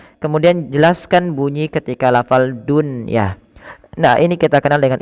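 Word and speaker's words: دنيا: istilah izhar mutlak maka bukan lagi duah Tapi bacanya Dunya Dunya bimashiha w'alnaaha Shi n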